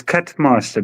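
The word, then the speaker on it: Kutmaster: Oh, it's cut master, but it's spelled with a K.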